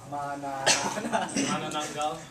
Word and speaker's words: Manananggal: How do you pronounce that, Sean? Manananggal.